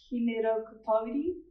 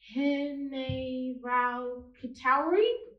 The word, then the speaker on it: Hineraukatauri: Miss, my name is pronounced Hineraukatauri. Hineraukatauri. I can record it for you if you like. Hineraukatauri? Is that right? Not quite, miss.